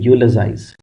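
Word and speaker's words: eulogize: फिर हो गया जाइज, लेकिन वैसे इसको बोलते हैं यूलोजाइज। यूलो नहीं बोलते इसको, यूलोजाइज।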